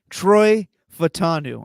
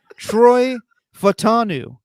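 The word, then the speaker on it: Troy Fautanu: Troy Fatanu.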